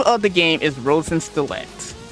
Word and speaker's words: Rosenkreuzstilette: Okay, I might butcher it a little, but So, the name of the game is Rosen Stlet.